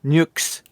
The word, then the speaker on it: Nyx: Yeah, Nyx. And that's how they say it in the fucking game.